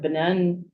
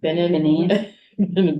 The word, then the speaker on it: Benin: It's the Republic of Benin, am I saying it wrong? Benin. Benin.